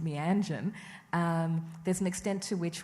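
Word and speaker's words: Meanjin: And there is a big extent to which the journal, which has always been pronounced Mianjan, there's an extent to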